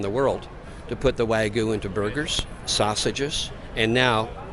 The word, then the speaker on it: wagyu: i can't pronounce it wagyu it's like a silent y in the middle yes it is what's uh what kind of is this wagu is a breed of